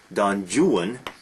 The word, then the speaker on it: Don Juan: using the name is byron's don juan he that wanted that pronounced pronunciation so that it would rhyme with new one uh wonderful long long